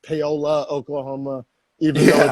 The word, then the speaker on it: Paoli: weird that reminds me how paoli oklahoma is pronounced paola oklahoma even though it's spelt with an eye